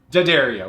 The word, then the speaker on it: D'Addario: D'Addario, which is the proper pronunciation.